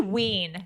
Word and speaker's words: Wein: That might be Ween. Ween, W-E-I-N. Wendy Ween. Because I had a relative whose last name was spelled like that, and they pronounced it Ween.